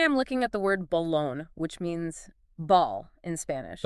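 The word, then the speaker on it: balón: I probably shout Balon putting the emphasis on that last syllable see you did it naturally you instinctively stressed the lone yeah which is the stressed syllable in Spanish and because that stressed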